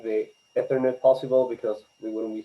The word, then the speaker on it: Ethernet: ethernet do you heard it here I think ethernet and internet are both the first letter is